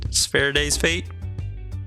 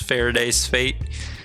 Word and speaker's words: Faraday's Fate: this is spirit ferrets Faraday's fate spare days fate I'll take it it's Faraday's fate glad I'm just now